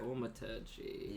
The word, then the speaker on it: thaumaturgy: And he just kind of like, could I also, I have no idea how to pronounce this, Luke. My first, it's a cantrip. Thaumaturgy.